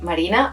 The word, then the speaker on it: Marina: It's actually Marina because I'm from Spain, but you can pronounce that however you want, however you feel at any given time.